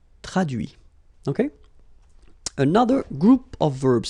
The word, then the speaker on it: traduit: Okay, so the same rule because, well, basically it's the same group and then same rule, final T not pronounced, so introduit, produit, réduit, séduit, traduit.